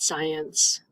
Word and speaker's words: science: an attendance policy policy also the word science you have the C in front of an e at the n and a c in front of an i in the middle so that's why it's